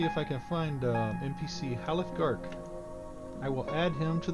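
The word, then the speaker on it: Halleth Garke: You said it once, but I missed it, so I don't know how to spell it. His name is... Haleth Gark. H-A-L-L-E-T-H G-A-R-K-E. Haleth Gark.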